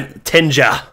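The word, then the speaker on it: Tinja: about a girl named how are we pronouncing her name is it Tenya d man I tenja tja not Tenya yeah about a girl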